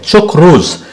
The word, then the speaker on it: chakras: According to Hindu yogic philosophy, chakras, pronounced as chakrus and generally translated as circle